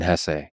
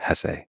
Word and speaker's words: Hesse: It was written by Hermann Hesse, and by the way, please allow me this pronunciation of his last name. I've heard some people say Hess, but my whole life I've always said Hesse.